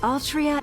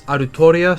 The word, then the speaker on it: Altria: clear right or wrong nasu created the character and Altria would be pronounced roughly as arutoria so this being a